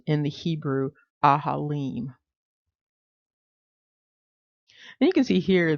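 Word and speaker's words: אֲהָלִים: It's pronounced in the Hebrew ahalim.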